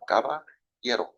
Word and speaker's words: Caballero: Spanish for cowboy. You just use the Y sound. Caballero. Oh, you gotta roll it a little bit.